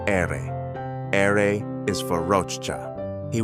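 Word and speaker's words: erre: R is pronounce ere.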